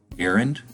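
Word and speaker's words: Garand: we have another anniversary of a passing on tuesday that'll be uh john aaron is the way he pronounced it and uh he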